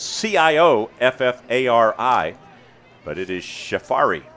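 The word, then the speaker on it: Cioffari: right six minutes ago it doesn't look like safari but that's uh it's cio f-f-a-r-i but it is safari it's an irish name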